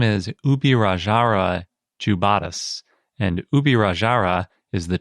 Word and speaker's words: Ubirajara: And when I say Ubirajara, I'm using the Portuguesized version of the word, because I don't know how to speak Tupi, and I couldn't find any pronunciation guide on that.